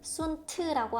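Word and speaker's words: sunt: 이 트를 뭔가 적다가 만 것 같은데 순트라고 하지 않고 그 트를 약간 발음해 줍니다. 순트, 순트 이렇게 발음해 주면 됩니다.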